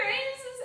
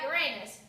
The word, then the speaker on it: Uranus: God knows you love a good joke about Uranus, but our generation pronounces it Uranus.